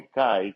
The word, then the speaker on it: chi: Em inglês chamam de Kai, que é muito estranho para mim. Não tenho certeza como pronunciar em português. Eu, talvez é escrita assim, talvez. Xi, não sei. Não sei. Não sei como pronunciar letras gregas em português. Em grego é Hi, para mim é fácil.